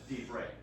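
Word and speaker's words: דברי: Both propertonic reduction and the rule of Shava are applied to get to divrei. Yes, it goes back to the second syllable because there's no third one since it's not.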